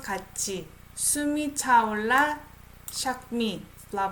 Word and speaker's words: 같이: I don't pronounce it as 같이. This is CH sound. Okay? 같이.